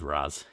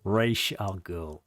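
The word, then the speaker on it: Ra's al Ghul: by the fact that he got him to pronounce it as Raz in in Batman Begins cuz it's always been Ray Shall Ray Shall Ghoul.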